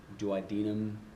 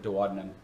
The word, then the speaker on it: duodenum: They call it the duodenum, or some people pronounce it duodenum, as I've heard, but I've always learned it duodenum.